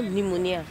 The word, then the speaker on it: pneumonia: You know, you say pneumonia. Where the P come from?